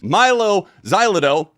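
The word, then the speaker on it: Mylo Xyloto: Milo Xylo.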